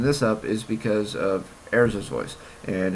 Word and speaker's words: Erza: It's not hard to say Erza instead of Urza.